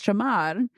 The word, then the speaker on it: shamar: Reminding us the word that we pronounce with our Americanese Samaria, is shamar, right?